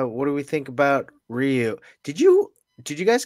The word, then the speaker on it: Ryu: yeah let's uh what do we think about Ryu did you did you guys call him rayu or Ryu growing up was rayu gr R I called him rayu up until